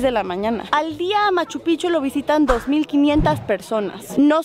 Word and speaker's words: Machu Picchu: machu picchu amigos de la pronunciación correcta es machu picchu machu picchu estuvo enterrada